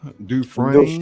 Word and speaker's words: Dufresne: Dufresne. Is it Dufresne? Dufresne. Dufresne, like refrain? Dufresne? Dufresne. He's French.